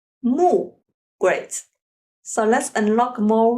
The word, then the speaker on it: 木: means wood and trees so it pronounce as moo okay and it illustrate